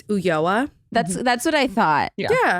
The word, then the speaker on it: Ulloa: It's Ulloa.